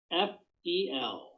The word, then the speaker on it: Weinzapfel: And it's spelled like it sounds, believe it or not. WEINZAPFEL.